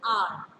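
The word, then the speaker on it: hour: For example, R. Now H-O-U-R. I make it clear. Now here H is silent.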